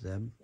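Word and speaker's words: Zdeb: The D is silent, I believe, not Zeb. It's just Zeb.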